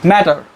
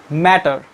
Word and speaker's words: matter: Most of the non-native speakers pronounce this word matter, but the American accents and the American people pronounce it like the matter, matter, matter, like that, matter. They replaces these T sounds in D sounds.